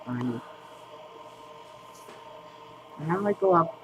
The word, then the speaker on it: Anie: That's what her name is pronounced, Anie.